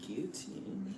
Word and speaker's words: guillotine: French pronunciation is guillotine.